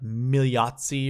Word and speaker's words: Migliozzi: I heard on PGA Tour Radio, it was like you don't pronounce the G or the L. It's like Migliozzi or whatever.